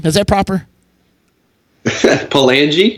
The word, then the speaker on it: Palangi: I got my man Frank Palangi on the horn with me today. Frank, is that how you say the name? Is that proper? Palangi? Palangi, thank you. See, I don't pronounce names.